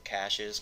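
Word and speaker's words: cache: known as CES or cashes cash is the correct pronunciation but it's spelled CA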